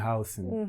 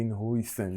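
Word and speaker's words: Huijsen: E falou da exibição do Dean Housen. Muitos falam de Hisen e não sei quê.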